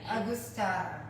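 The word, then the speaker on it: Angostura: Agustata.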